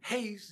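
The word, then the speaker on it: εἷς: it's hard it's interesting because they're spelled the same but the accent is different Hast is one and Ace is into or or unto or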